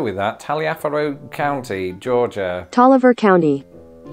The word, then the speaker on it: Taliaferro: that taliafero County Georgia Toliver County Tolliver does Georgia just not believe in pronouncing the final vowel in a word let me know what